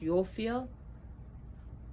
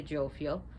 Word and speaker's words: Jophiel: The angels that work with this is Yophiel, which is spelled with a J, but pronounced Yophiel. Or you can say Jophiel, and Michael.